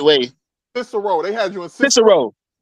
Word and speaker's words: Cicero: It was a Syrio? Huh? I can't pronounce it the right way. Cicero.